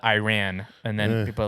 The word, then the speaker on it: Iran: going around correcting people it's Iran not Iran and then people are